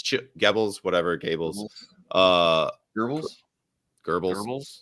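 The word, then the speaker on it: Goebbels: gbls whatever GES uh geres geres there's no R so I don't pronounce an R but um either way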